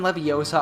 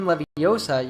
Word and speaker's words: Leviosa: She explained that when saying when Leviosa, you should not pronounce leviosa with an open a sound at the end, but rather with a schwa sound.